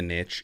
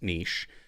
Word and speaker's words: niche: Some say it's the niche. It's not the niche. It's niche. It just doesn't rhyme well. I know Sean Cannell likes to say that the riches are in the niches just because it rhymes, but he knows that it's niche.